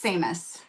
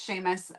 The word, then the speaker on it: Seamus: It's Samus. Samus. Sheamus. Sheamus. That's what my brain's telling me it should be if they're Irish. But I Sheamus. Yeah, that's right. It's Sheamus. But it's spelled Seamus.